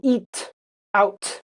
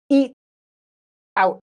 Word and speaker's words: eat out: And this is tricky to pronounce actually because uh this t we don't go eat out. Uh in American English this t is a stop. We've talked about that before. Eat out.